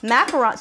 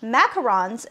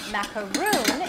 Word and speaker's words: macaron: meringue type baked a macaroon is made with a little tidbit of information so it's actually really common that it's mispronounced a lot of people say macaroon instead of macaron and a macaroon is